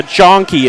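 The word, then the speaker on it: Janke: gonna say Brody yeah John key is how you pronounce the last name Brody janki he's a freshman at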